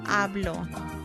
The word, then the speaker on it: hablo: The H is silent in Spanish, so it's hablo.